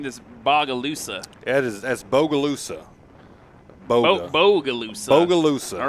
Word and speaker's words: Bogalusa: Now, wait, I was pronouncing this Bogalusa. That's Bogalusa.